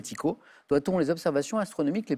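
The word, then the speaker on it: Tycho: du 16e prénommé Tico ça sécrit Ty ch prononcé Tico doit-on les observations astronomique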